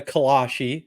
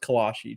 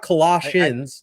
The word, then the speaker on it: kolache: I believe it's pronounced kolache. Trent is not Colossians, like the book of the Bible. Yeah, it's kolache.